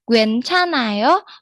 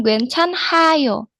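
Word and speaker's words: 괜찮아: Gencanao dia di karena ada empat dia H-nya itu menjadi mati. Jadi, bcimnya yang dibacanya hanya N-nya saja. Jadi, Gencanao bukan gchanyo seperti itu artinya tidak apa-apa.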